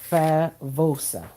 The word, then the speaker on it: favosa: I said B because in Spanish a V is pronounced like a B. Makes a B sound. So it's tinea favosa.